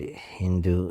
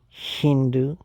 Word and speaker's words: Hindu: the as h so the Iranians and the Greeks pronounce the letter s s h oh maybe that's Hindu shindu Hindu Hindu shindu Hindu shindu